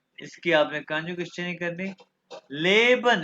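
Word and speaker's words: lieben: और लीवन ये देखो लेबन और लीवन तो ये देखो आई ई किस चीज की प्रोनाउंस करता है आवाज ई ई इसलिए ली बन है लीवन टू लव इसकी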